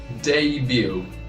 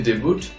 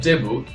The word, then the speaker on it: debut: dangerous though we say dangerous but the correct pronunciation is dangerous is a dangerous road it's a dangerous road then debut debut sometimes we say the boot our table is neither David nor debuted its debut debut this is the band's debut